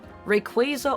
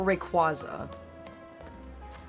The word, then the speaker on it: Rayquaza: Rayquaza or Rayquaza?